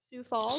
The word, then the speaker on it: Sioux Falls: Sioux Falls.